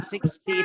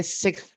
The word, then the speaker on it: sixth: Coba coba belakangnya ada th-nya. Jadi bukan 60 tapi si gitu. 16. No no no no no. Bukan 16. Jadi oke di belakang kalau pelan itu bacanya gini six teh gitu. Jadi sixth. Sixth.